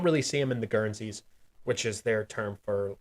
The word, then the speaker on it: guernsey: go Guernsey yeah uh like Guernsey like uh spelled the same way as the uh the island uh the UK Island she uh-u-e-r-n-s-e-y currency something like